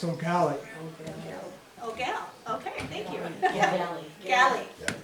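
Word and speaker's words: Eau Galle: in the town of Al Oall. I'm not sure I'm pronouncing that correctly. In St. Croy County, it's Ogali.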